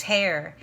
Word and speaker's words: Hare: hare that's a strange name it's spelled like the rabbit har e and two teacher's assistants